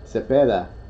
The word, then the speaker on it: Cepeda: Cepeda. Cepeda. Cepeda. He doesn't pee, he pays. Cepeda. That's how you say it.